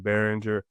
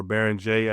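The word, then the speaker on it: Beringer: I understand Behringer or Berenger, I should say, get my French pronunciation correct.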